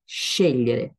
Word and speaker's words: scegliere: Parce qu'en fait, les deux lettres G, L, parfois sont avec cet ordre, scegliere, et donc ils donnent le son lieu.